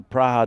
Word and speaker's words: Praha: the the dominators bring it is the praa dominators which is interesting the uh the local pronunciation of of Prague it'll be someone who's